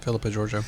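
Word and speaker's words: Philippa Georgiou: Am I pronouncing that right? Giorgio, Philippa yeah. Giorgio. Philippa Giorgio.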